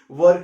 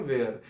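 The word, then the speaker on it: were: में किसका यूज करेंगे, वर्क का यूज करेंगे। यू वर, कुछ लोग इसे गलत प्रोनाउंस करते हैं, जो बोलते हैं वेयर, ये वेयर नहीं है, ये वर है।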